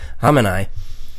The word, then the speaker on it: Khamenei: So, the Iranian Supreme Leader Ali Khamenei, no, I wasn't clearing my throat. That's just how I try and say his name. It's Khamenei.